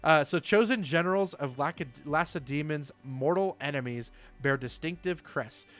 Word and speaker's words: Lacedaemon: And the reason I think it's pronounced Lacedaemons is because I actually kind of remember that from history class in high school. I think that's how my teacher was pronouncing it.